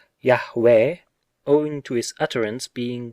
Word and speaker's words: Yahweh: yod he wow he the proper pronunciation of which seems to be yahweh owing to his utterance